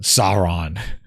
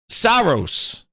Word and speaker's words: Saros: Sauron. Dude, that game needs to come out and be on my dashboard so I say it right. But Grinders, it's called Sauron. Saros. Saros. That's it.